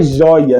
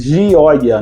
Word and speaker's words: Gioia: fiz a pronúncia correta mas não é joia né como se escreve no português j o e a mas Gioia no no italiano isso significa alegria isso